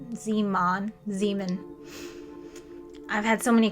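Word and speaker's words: Zeeman: we see something called Zan zon Zan I've had so many classes and I've heard it pronounced both ways Zan I think it's zon zon splitting that's what I'm going to go with zon splitting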